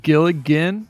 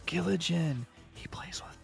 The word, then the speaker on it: Giligin: My name is pronounced Giligin, despite SirDimwi and Five Spotted Dog's insistence.